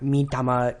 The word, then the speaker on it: Mitama: Remember that vowels in Japanese will be pronounced exactly the same no matter where they are positioned in a word. So it's Mitama, not Mitama. Be sure to avoid the at the end.